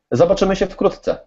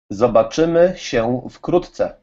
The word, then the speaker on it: zobaczymy się wkrótce: Zobaczymy się wkrótce. Okay, say it to me so I can say it. How do you say it? Zobaczymy się wkrótce.